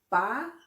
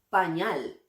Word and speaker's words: pañal: Pañal. Noten que la fuerza de voz recae justamente en la sílaba ñal. Pañal. Pañal.